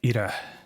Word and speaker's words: Ira: Yeah, the way you pronounce my name is Ida. Bit of a rolled it's a Maori Ida. name. Yes. As in IDA, just IDA. But spelled phonetically, IRA, but Ida. You can hear it Ida, slightly. and- There's a little mini rolled R in there. Sounds like ERDA to me.